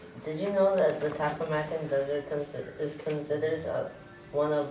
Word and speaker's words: Taklamakan: The word how you pronounce it is Gobi, and the other word how you pronounce it is Taklamakan Desert.